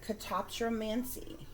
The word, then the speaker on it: catoptromancy: portal of some kind okay guys so the pronunciation of this word is could uh catoptromancy okay catoptromancy c a t o p t